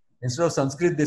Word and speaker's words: Sanskrit: The way Sanskrit is pronounced in Maharashtra is also very different. Instead of Sanskrit, they say Sanskrut.